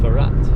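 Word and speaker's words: الفرات: So Euphrates is actually pronounced Farat here in Iraq, which I've never heard before.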